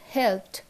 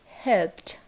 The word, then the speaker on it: helped: SS, X or C, then ED is pronounced as T.